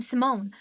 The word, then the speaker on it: Simone: I know we haven't talked much, but I'm Simone. Yes, that's how you pronounce the name.